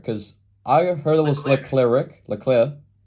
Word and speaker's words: Leclerc: Because I heard it was Leclerc. Leclerc. Oh, okay. Because so many different people pronounce it differently, so I just want to make sure.